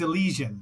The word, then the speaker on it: Elysian: It's Allesian. Like like the Allesian fields in Gree in in Olympia where the dead go the good dead go to after they die.